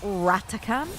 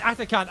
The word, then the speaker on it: Atakan: we get an idea ratakan I don't know how to say his name it's atakan I I just had uh